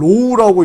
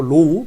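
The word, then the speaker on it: ρ: 이거를 로우라고 읽습니다. 알아두셔야 돼요. 로우.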